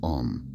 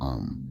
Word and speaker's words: Om: The chant commonly called Om is traditionally pronounced as three sounds, A, U, M. Together, they form Om.